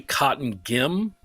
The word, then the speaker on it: Cottingim: It's actually Cotton Gim. Cotton Gim, okay.